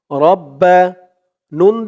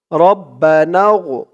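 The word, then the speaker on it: ربنا: আরবিতে শিখতে অসুবিধা হবে রব্বা নুন দিয়ে এই গইন ধরবে নুন গইন জবর নাউ রব্বানা রব্বানা ফাজের ফির রব্বানা ফির রব্বানা ফির লাম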